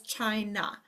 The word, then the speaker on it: China: of the word always, or a at the end of the word always changes to schwa. So this word says China, but what if we wanted to spell with a long A sound?